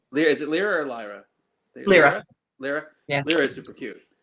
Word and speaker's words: Lyra: uh what is it lyra there and you're like it's lira i was like yeah